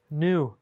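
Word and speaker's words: gnu: New. That G's not even pronounced.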